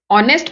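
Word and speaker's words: honest: very ऑनेस्ट very ऑनेस्ट ऑनेस्ट में ए silent रहता है इसलिए इसे नेस्ट प्रोनाउंस नहीं करते ऑनेस्ट प्रोनाउंस करते हैं ही वाज वेरी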